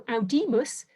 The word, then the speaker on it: audimus: Similarly, but slightly differently, if we consider classical audimus, that I is distinctively long in classical Latin. Because it's long, it makes the syllable long.